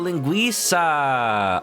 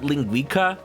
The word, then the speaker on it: linguiça: Oh, linguiça. Oh, it's not Italian. Dang. There's me for assuming. See, I've heard people call it linguica, And then everybody else is like, that's not how you pronounce it.